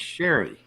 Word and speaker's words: Cherie: Is that Cherry Will or Cherie? How do you Yeah, say I that? think it's Sherry. Sherry, Cherie. Yeah, Sherry. That's the way it's usually pronounced.